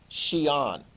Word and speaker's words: Xi'an: see the Q or you see the X and just go shh.